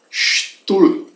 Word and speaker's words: Stuhl: Por outra parte, o H depois de um U, né? Assim se alargue o sonido de la vocal. Por lo tanto, der Stuhl se pronuncia der Stuhl. Stuhl. Esse H, então, ele fica mudo, né?